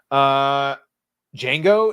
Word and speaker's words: Django: Django is my favorite Tarantino film. Oh, I don't know about favorite, but it's a damn good movie. It's my favorite. Yeah. The D is silent.